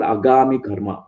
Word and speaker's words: agami karma: This is called agami karma. Agami karma, that's how it is pronounced.